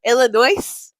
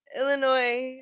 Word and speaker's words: Illinois: You pronounce the S? No. Illinois? Illinois.